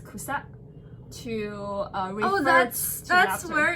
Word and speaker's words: 草: So then they use Cao, so which pronounced in Japanese as kusa, to refer that's laughter.